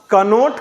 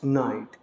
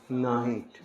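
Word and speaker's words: knight: क्या के एन तो के को साइलेंट रखा जाता के को एकदम साइलेंट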